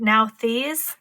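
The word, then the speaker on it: Nauthiz: The guidebook for this shows that you pronounce it Nalthis, and it speaks about need and necessity.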